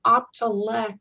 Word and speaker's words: Optelec: I used to mispronounce it all the time. Optelec.